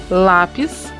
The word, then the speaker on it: lápis: palavras então olha lá lápis é na penúltima tórax na penúltima o